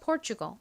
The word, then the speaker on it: Portugal: Portugal 적어볼게요. 피읍 소리 나는 P, 그 다음에 or 소리 나는 OR이 오고요. 그 다음은요. T가 옵니다. T는 원래 티읕 소리가 나는데 여기서는 치읓에 더 가깝게 소리가 난다고 말씀드렸고요.